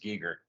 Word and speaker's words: Giger: Frost everybody wants to say Geiger it's not Geiger it's pronounced Geiger just like the cross is actually Celtic for